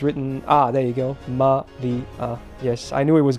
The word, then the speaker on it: Maria: I think this character can mean Asia, but yeah, it's mostly used as an a sound in names and shit. So it's Maria. There you go. Yeah, there you go. It's pronounced it like that.